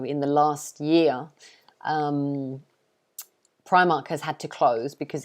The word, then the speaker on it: Primark: their cheap affordable clothes this one we pronounce it primark so it's pry mark primark like that i'm sure some of